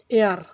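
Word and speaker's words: heir: তারপরে আছে এয়ার, এখানে এইচ উচ্চারিত হয় না, এখানে এ ভাওয়েলের মতো উচ্চারিত হয়েছে।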